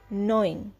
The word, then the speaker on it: gnawing: জি এটি একটি verb pronunciation টা নোইং জি উচ্চ থাকছে অন্যদিকে সজরে ঘোরা বা